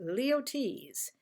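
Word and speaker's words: Luyties: tell you how to pronounce it and it's pronounced leo t's this company was founded in 1853 but perfumes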